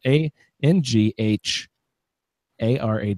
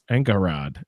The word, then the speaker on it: Angharad: character splendid anga heart and I can't even pronounce an A NGH ar ad ANCA Angharad Angharad there you go splendid Angharad i listened